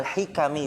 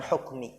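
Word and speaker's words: الحكم: allahulu infirika minal hikam ingat bacanya minal hikami bukan hukm ya hikam jamak dari hikmah dari hikmah-hikmah jamiul ulumi wal hikam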